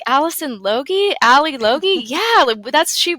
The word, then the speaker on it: Lodge: you know who Allison Lodge is which is not how my name is pronounced and they're like Allison Loi Ali Loi yeah that's